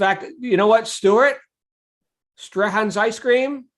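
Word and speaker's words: Strachan's: you know what stuart strahan's ice cream which is how you i learned how you pronounce it it's not straichens or i'm like you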